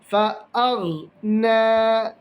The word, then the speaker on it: فأغنى: ഫഅഗ് എന്ന് ഖൽഖല ആവാൻ പാടില്ല. ഫഅഗ്നാ, فأغنى.